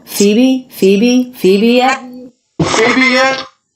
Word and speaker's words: Phoebe: here from CB yet so the pH makes the F sound and both the stress and the unstressed syllables in this name have the same vowel that is the E vowel Phoebe Phoebe Phoebe yeah baby